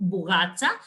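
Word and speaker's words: bougatsa: little bit of a um difficult word to pronounce and remember it's called bugatta and it's either filled with custard with meat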